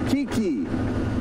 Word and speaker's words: Kiki: said your name wrong it's not ct it's kiki and yes kiki monkeys